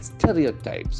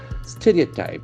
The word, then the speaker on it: stereotype: Stereotypes. Okay, the word is stereo. So we may have a tendency to pronounce it like stereo. It's not stereo. Stereotype.